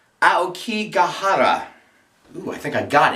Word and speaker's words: Aokigahara: Now the interesting twist to this is she is missing in the Suicide Forest, which is pronounced Aokigahara.